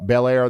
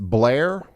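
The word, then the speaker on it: Bel Air: Oh, Belair. They're saying it's pronounced Blair.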